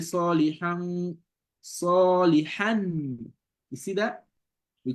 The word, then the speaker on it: صالحا: You don't say salihan, salihan. You see that? We call it izhar in tajweed. So you're gonna convert this nun tanween, pronounce it like a nun.